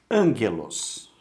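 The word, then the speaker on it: ἄγγελος: Esse gama vai ter som de G duro mesmo, estando formando sílaba com uma vogal flexível, no caso o epsilon.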